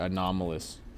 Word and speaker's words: anomalous: That is what that's how you say it, anomalous.